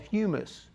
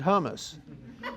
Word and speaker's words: humus: It doesn't ever well it does finish and when it's finished it's called humus. Now I made the mistake of calling it hummus and uh there's a big difference there.